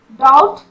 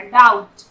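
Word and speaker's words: doubt: यहाँ डाउट, यहाँ पर भी बी का साउंड नहीं हो रहा, डाउट।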